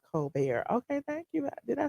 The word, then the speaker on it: Colbert: It's said Colbert. It's pronounced Colbert.